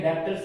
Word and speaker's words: debtors: तो what do mean by डेटर्स, इसमें B silent है, इस बात का ध्यान रखें, डेटर्स नहीं बल्कि डेटर्स।